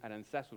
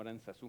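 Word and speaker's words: Aránzazu: en Vizcaya dicen Aranzazu, no Aranzazú.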